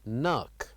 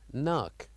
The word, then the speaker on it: knock: And also here we have the word knock. Knock. So here the K is silent and we say knock.